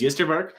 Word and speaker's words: Ystervarke: The way you say it is Yestervark. That's how I think it's said.